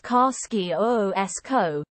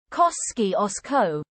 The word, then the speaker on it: Kosciuszko: Depending on who you ask, it's pronounced Kar-ski-o-o-s-ko, Kos-ski-os-ko, or Ku-shu-skor.